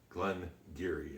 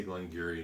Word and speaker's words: Glen Garioch: was and everybody is telling you how to pronounce Glenn Geary and when I say Glengarry and you look at the way it's spelled